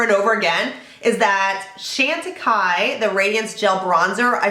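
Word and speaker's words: Chantecaille: it is so good so that is the Shanta Kai I know how to say it now guys thank you for that the shantai bronzer is just I mean I would buy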